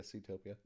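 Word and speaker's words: Seatopia: I would say that they they really didn't do well with the uh Ctopia. Mhm. Did I say it right? Yeah. Ctopia.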